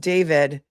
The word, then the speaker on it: D4VD: Let's move on to the actual criminal felony complaint against D4VD, pronounced David.